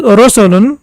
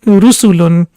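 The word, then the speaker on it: رُسُلٌ: It shouldn't be pronounced as Rosulun because it's Ru sound, so it's basically Dhamma, so it will be Rusulun.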